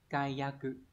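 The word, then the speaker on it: 解約: Đấy, từ này đọc là kayaku.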